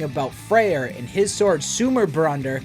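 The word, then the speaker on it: Sumarbrander: freyr in his sword sumer brunder or at least that's how i think it's pronounced and where it is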